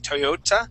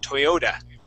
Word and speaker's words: Toyota: word Toyota okay um at the end of the word we wouldn't pronounce that t like a a t sound we would say a d okay so instead of saying Toyota we would say Toyota okay Toyota okay okay try